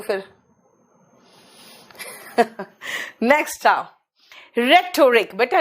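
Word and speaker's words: rhetoric: Next आओ, रेटोरिक, बेटा रेटोरिक में एच साइलेंट है, रेटोरिक में एच साइलेंट है।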